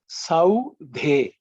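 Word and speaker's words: सौधे: Just watch. It should be with an extra air.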